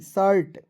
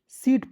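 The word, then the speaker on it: shirt: चलिए उसके बाद देखिए एस एच आई आर टी शर्ट शीट नहीं बहुत लोग जो है देखिए पढने वाला जो शर्ट होता है वहां पे बहुत लोग सीट पढ़ लेता है बिल्कुल गलत तरीका दोस्तों इस तरह आपको नहीं पढ़ना है आज के इस वीडियो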